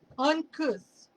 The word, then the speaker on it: uncouth: Uncouth rhymes with booth.